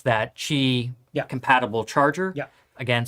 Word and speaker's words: Qi: Yeah, it uses the I can never pronounce it. QI. Is that Qi charger?